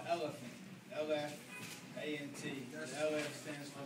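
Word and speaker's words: LFANT: The name of the label is called Elephant. L-F-A-N-T. The L-F stands for Linda Faith, my mother. God bless her soul. But also got kind of the name LF, like actually pronouncing the L and F, A-N-T, based off my favorite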